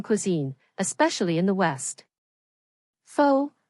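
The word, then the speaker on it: phở: especially in the West faux pronounced fa is a beloved Vietnamese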